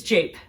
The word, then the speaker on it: jape: gonna say jappy japan it's jape jake is how you say just jake jake what